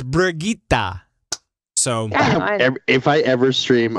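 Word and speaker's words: Brigitte: Brigitta it's Brigitta we're getting wet it's it's pronounced Bridget that's not true just make sure everybody gets angry no it's brigita so if I ever stream over watch I'm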